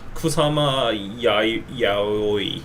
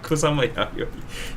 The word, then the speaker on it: Kusama Yayoi: Uh, I always have trouble pronouncing the names. Um, the woman with a pumpkin with a lot of dots. Uh, Kusama Ya Yai. Yayoi. Kusama Yayoi.